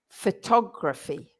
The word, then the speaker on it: photography: Graphy is a schwa in gr. So it's a bit tricky, that one. So listen, photography. And if you don't know what a schwa is, it's that really lazy sound that you hear so much in English, especially when a word ends in er. You say for example, teacher, brother, sister, mother. So that's the schwa, photography, 2 schwas in there.